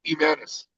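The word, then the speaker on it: Jiménez: If there's an H, you don't pronounce the H. It's Jimenez. Siéntate.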